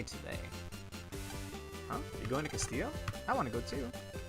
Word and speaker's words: Castillo: It's Castillo. It's not Castello. Like, that's how I would prefer to pronounce it anyway, but you know.